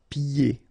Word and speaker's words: pieds: And then when you get this combination here, it's ye. Pieds. Okay, so you don't hear the D.